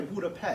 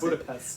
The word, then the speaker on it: Budapest: You said it the right way, Budapest. I said Budapest. So that's how you pronounce Budapest.